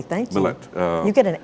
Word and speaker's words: Mallett: You pronounced it correctly, thank you. Mallett.